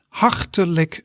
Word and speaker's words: hartelijk: So in Dutch you would say hartelijk bedankt. So you pronounce that into a few syllables.